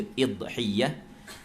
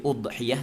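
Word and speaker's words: أضحية: baca udhiyah tanpa tasydid, boleh baca idhiyah tanpa tasydid. Itu kembali kepada perbincangan di dalam lughah. Sebab anda sebut tu oleh kerana pada syarahan tu ada cara bacaannya, ada 2, tasydid atau takhfif huruf ya.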